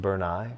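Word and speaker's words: Brunei: have a lot of oil oh wow it's pronounced bernai bernai check it b r n i n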